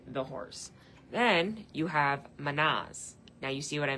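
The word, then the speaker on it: Mannaz: And it's literally pronounced like man, but man.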